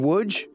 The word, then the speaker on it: Łódź: all year round would you be surprised how it's spelled you would welcome to wood would you in woodge